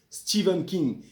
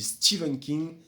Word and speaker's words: Stephen King: fantastique et de l'épouvante Stephen King et oui pour ceux qui ne le savent pas on dit stevenen King la prononciation américaine ou Stephen King la prononciation française comme je me la